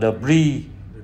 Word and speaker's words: debris: Kế đến là Debris. Thì ở đây chữ S đằng sau chúng ta không có phát âm nha các bạn.